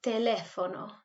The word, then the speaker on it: teléfono: So there is an accent on the E, so that's when we need to put the emphasis. And the H is silent. Let's try that again. Hablar por teléfono.